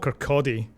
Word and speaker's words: Kirkcaldy: apart what town it's the town called Kodi which is spelled in a very strange way it's a little town